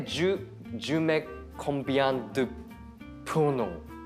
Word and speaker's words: pruneaux: D'abord, pruneaux. Encore le U, pruneaux. Pruneaux. Avec le O à la fin, très long.